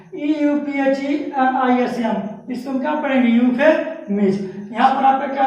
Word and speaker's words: euphemism: जैसे आपको देखिए यहाँ पर क्या मिला यूफेमिज्म, EUPHEMISM, इसको हम क्या पढ़ेंगे यूफेमिज्म।